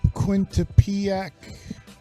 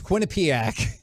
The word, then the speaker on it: Quinnipiac: hockey School I've never heard of quintupiak ever if that's I said it right it's Quinnipiac okay it's in Connecticut it's